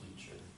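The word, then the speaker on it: Leischer: I think it's Leacher, Leacher.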